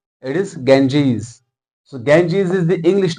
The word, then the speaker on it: Ganges: This is the name of a river, but people pronounce it as Gangs or Ganga. No, it is incorrect. First of all, let's rectify our pronunciation. It is Ganges.